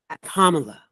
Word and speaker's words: Kamala: which by the way her name is super simple to to pronounce just think of Cal the Cal in the storm Kamala it's super simple people the